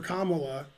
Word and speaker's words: Kamala: Well, I was rooting for Kamala because something. Her name rhymes with Holla.